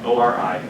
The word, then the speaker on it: ORI: ORI, O-R-I, is pronounced ORI, is an origin of replication.